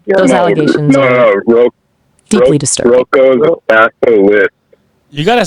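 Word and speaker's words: Roko's Basilisk: You said Rocco's Bachelors? I apologize. Those allegations are deeply disturbing. Rocco's Basilisk.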